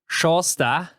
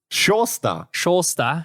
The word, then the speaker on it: Sjaastad: I think it's Sjåstad. Sjåstad, as he told us.